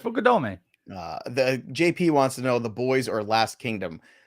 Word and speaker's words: Fukudome: cut the stream, like, because he says I say it weird. But it's Kasuke Fukudome. Fukudome. I didn't say that weird. I was actually getting ready to be nervous. You said that right, Fukudome.